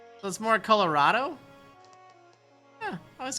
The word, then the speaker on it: Colorado: right salsa verde okay put a lot of emphasis on the a in Colorado ah that's more Colorado let's call it Colorado